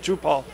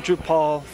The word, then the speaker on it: Drupal: When we came in, we were on Drupal 4.7. And we should mention Drupal. Oh, Drupal. Now, you say Drupal, I say Drupal. Drupal's the correct pronunciation.